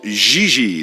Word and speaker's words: JJ: jj ling you mean jiji ling no i mean jj gigi jj on francais you pronounce g like j and j like g she may very well be jj in america but in